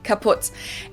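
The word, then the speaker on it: kaputt: We spell it with two T's in Germany, but we pronounce it the same way. Kaput.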